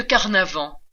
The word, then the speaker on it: Carnavant: Du marquis de Carnavant, un nom qui rime avec carnaval, au pitoyable marquis de